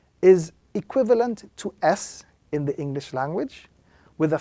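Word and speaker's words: سين: letter, this letter is pronounced when the tip of the tongue touches the edges of the two lower front teeth, and again very slightly touching the edges of the two upper front teeth, which gives the sound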